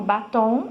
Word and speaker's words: batom: Caqui, a sílaba forte é o qui, e no batom, a sílaba forte é o tom, tá?